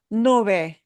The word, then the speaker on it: nube: Nube. Nube. And that B in the middle will be very soft.